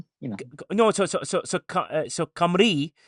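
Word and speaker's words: Cymru: So, so, so, so Camri. So, Simaru as it's spelled. It's Camri. Camri, that's how you say it.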